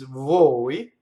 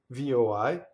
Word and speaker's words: voi: longer used, is voi, V-O-I. And then the word for then, which looks like it rhymes, is P-O-I, and now it's open, poi. So, noi, voi, poi. So those three words do not rhyme.